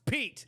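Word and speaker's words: Piett: Admiral Piet wondered if maybe he had made a mistake because his name is pronounced Pete. That's what it should be. So, anyways, Pete.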